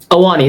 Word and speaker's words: Ahwahnee: The Ahwahnee. Ahwahnee, that's it.